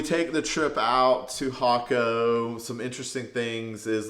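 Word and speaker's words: Jacó: in this area called hako but it starts with a J there it's pronounced differently it's j so y she's like if you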